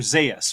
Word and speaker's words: Zaius: Zaius from Planet of the Apes.